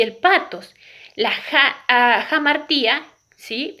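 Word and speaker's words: hamartía: La jamartía, ¿sí? Se escribe con H, pero se pronuncia como J.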